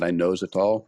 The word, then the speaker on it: inositol: I like to pronounce it inositol because it's cocaine.